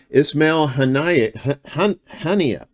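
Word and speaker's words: Ismail Haniyeh: Ismail Hania, that's how you say it.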